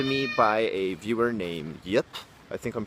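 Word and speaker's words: Jip: by a viewer named Yip. I think I'm pronouncing that right. It's J-I-P, but I'm imagining it's pronounced Yip.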